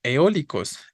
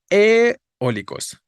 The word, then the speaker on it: eólicos: es la o no Si yo le pongo el acento a la e estaría diciendo que es la e la que suena fuerte y cómo tendría que pronunciarlo eólicos no eólicos vale tendrían que hacer este esta fuerza este impulso sobre la e suena raro no no suena bien no suena como lo pronunciamos quiero decir entonces la vocal tónica es la o y sobre la vocal